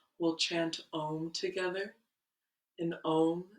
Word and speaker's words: Om: And Om is kind of spelled like A-U-M, and we're enunciating the sounds of those letters with our voice.